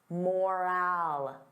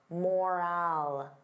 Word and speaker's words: moral: The sound is less stressed. I don't open my mouth as wide. Moral, moral.